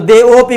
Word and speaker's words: देवोपी: देवोपी जी, ये आ जो रहेगा इसका उच्चारण अपी से नहीं करेंगे, ये ओ में मिल जाएगा तो देवोपी बोलेंगे। लेकिन आ का स्थान जानने